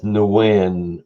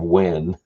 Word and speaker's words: Nguyen: I love when people pronounce Nguyen as Nguyen or Nugent instead of Win.